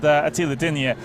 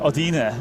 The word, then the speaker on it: Oda: running on board with AAA uh or Oda as is the correct pronunciation of that I've probably been